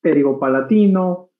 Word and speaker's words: pterigopalatino: Sí, poco a poco vamos a ir aprendiendo, no se pronuncia la P, es pterigopalatino, pterigoideo, y entonces poco a poco.